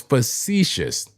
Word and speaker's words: facetious: It was facetious. That's how you say it.